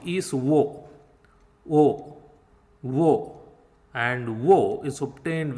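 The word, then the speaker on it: वू: And oo is pronounced like WOO in wool, wool, wool, woo, wool.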